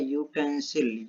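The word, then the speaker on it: utensil: तो यहाँ पर हमारा प्रोनाउंसिएशन आ रहा है यूटेंसिल, यह आ रहा, तो क्या हो जाएगा? ए का यूज होगा।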